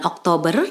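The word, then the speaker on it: October: C atau huruf c dan pengucapannya adalah Oktober jadi r-nya tidak diucapkan secara jelas agak sedikit samar Kemudian bulan yang ke-11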